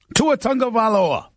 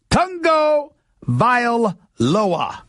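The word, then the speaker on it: Tua Tagovailoa: seven six that's eight eight eight say ESPN to a tongue go by Aloha that is how you pronounce chunk of Allah's name to a chunk of Aloha that's how he pronounces his name Tongo vile lower that's how you pronounce his name look we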